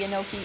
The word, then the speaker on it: enoki: So we'll leave these ones in early, and we'll put the enoki in later. Are they spelled like gnocchi, like the delicious? Enoki. Oh, okay. Gnocchi. Not gnocchi. Enoki.